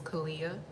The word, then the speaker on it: Kaliyyah: My name is Kaliyyah. So when they see it, they butcher it. So I usually tell people it's just Aaliyah with the K, Kaliyyah.